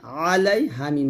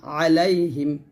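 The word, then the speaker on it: عليهم: লাম ইয়া জবর লাই আলাই হা মিম জের হিম আলাইহিম আলাইহিম এই হাটা পাতলা হবে হামজা র জবর আর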